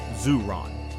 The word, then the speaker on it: Ziran: The Daoists called this Ziran, pronounced Ziran, meaning self-so.